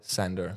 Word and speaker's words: Sander: The right pronunciation is Sander or Sander? Sander.